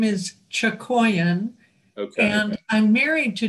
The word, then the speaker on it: Chakoian: you know what i haven't heard your name pronounced aloud since you were introduced to that congregation my last name is chokoyan okay and i'm married to john schustisky and